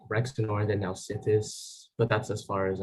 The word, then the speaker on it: Nausithous: asking you to repeat, just because the first syllable keeps not coming through to me. That's all it is. Nausithous is correct, so that's 20 points for New Hampshire on toss-up 7.